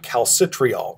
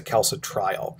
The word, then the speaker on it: calcitriol: with another hormone called calcitriol or kalsa trial i usually pronounce a calso trial so kalsa trial is